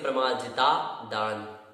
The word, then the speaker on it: प्रमार्जिता: अप्रत्यवेक्षिता प्रमार्जित, यहाँ ता का जो आ है उसमें बाद का आ जुड़ने से दीर्घा हो जाएगा, इस कारण से प्रमार्जिता दान ऐसा उच्चारण होगा।